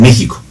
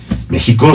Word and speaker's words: México: México suena con J y se escribe con J.